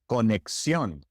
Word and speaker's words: conexión: The X in Spanish is pronounced just like the X in English, conexión, examen.